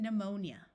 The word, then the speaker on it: pneumonia: type of flying dinosaur words starting with PN also have a silent P like in pneumatic E uses o and pneumonia there are words with